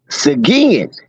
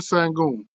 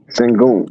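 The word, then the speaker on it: Şengün: Sometimes you look at it in English, but it's not pronounced the way that you see it. It's Alperin Sangoon. Sangoon.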